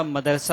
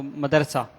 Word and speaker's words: مدرسہ: مدرسہ یہ غلط العوام ہے، اصل اس کا تلفظ ہے مدرسہ، میم دال زبر مد، را زبر را، را زبر را، اور سین آ زبر سہ، اردو کے حساب سے